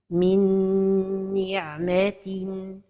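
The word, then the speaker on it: من نعمة: Min ni'matin. L'erreur et la prononciation sont données de temps pour la ghunna. Min ni'matin. Et la ghunna, elle a un ton. Minni. Donc, la prononciation correcte est min ni'matin.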